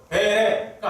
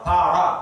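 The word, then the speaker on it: ברא: 그걸 베레가 아니라 바라 이렇게 되는 거예요. 모음만 바뀐 거예요.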